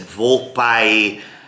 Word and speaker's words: Volpaia: De Volpaia, I guess is how you pronounce that. There was an Italian guy there, the truffle guy, and he said Volpaia. I said, okay, Volpaia.